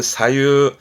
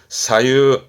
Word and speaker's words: 左右: 발음은 사유, 사유, 음으로는 사였습니다.